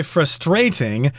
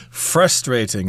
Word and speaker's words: frustrating: Please note, some people say frustrating. I think I've heard British people pronounce it that way, but Americans tend to put the accent on the first syllable, frustrating.